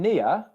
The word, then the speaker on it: near: Now, like with all diphthongs in English, the first sound in the diphthong is much louder, much more stressed, and lasts for much longer than the second syllable.